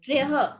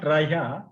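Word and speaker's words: त्रयः: It's not traya, it's only traya. Triyaha. There is this visarga Mahodaya. So we need to take that also into consideration. Okay. Triyaha. So the repa will combine with the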